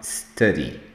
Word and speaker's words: study: O som é aqui na garganta, é um Esse U aqui vai lá na garganta, então você vai falar study.